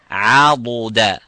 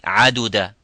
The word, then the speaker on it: عضدا: Now, most of the people would think that dad and dal here are the same by saying عَدُدَ. This is in Surah Al-Kahf. وما كنت متخذ المضلين عضدا, and not عددا.